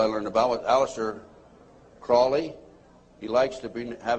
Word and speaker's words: Crowley: learned about with aliser Crawley he likes to be have his name pronounced Crowley to rhyme with holy and uh the Satanist